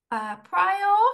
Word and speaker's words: Prior: Could you pronounce it for me? Could you say it so that I can hear the Yes, pronunciation? it's Prio. Prior. Prio. Thank Yeah. you. Yep. Prior, not Prior.